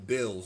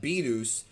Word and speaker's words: Beerus: When the movie first came out, I remember people called him Bills, and that's an incorrect way to say his name, but it's one that is actually official in the Spanish dub because they felt like Beerus sounds too much like virus, which in Spanish means virus, and it really does.